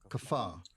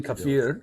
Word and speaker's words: kafir: Kafar. It's actually kafir.